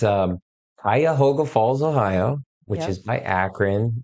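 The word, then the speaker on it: Cuyahoga Falls: a town if anybody pronunciate pronounce it pronunciate pronounce it it's um Kaya hoga Falls Ohio which is by akan it's north of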